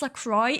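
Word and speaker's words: LaCroix: Hate that it's pronounced Lacroy. Isn't it supposed to be Laqua?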